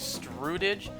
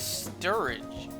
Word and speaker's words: Sturridge: i say last time his like his last name is is strudege no his last name is sturridge tom sturridge that's his